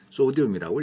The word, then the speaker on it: 소디움: Na, 옛날에 나트륨이라고 말이 건데, 역시 마찬가지로 독일어식으로 읽은 것이고, 영어로는 소디움이라고 읽습니다.